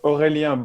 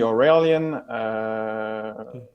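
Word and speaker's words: Aurélien: brutally no problem so my name is uh oh hey Leon that's the French pronunciation from France and you can call me or alien I was trained as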